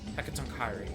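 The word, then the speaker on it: Hecatoncheires: And that is Hekatonkairi. Thank you. I knew you'd be able to pronounce that better than I could.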